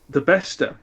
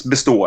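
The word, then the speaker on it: Bestå: the Kallax, but the Besta. Which it's Bestow actually, but anyway.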